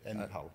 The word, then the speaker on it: Enpal: And they, how do you spell that? It's an E-N-P-A-L. P-A-L? P-A-L, yeah. Okay, Empal.